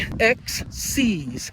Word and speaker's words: Excee: So, uh, shoes that I'm out in today are the Nike XC's. Uh, but it's spelled E X E E all is together in one word.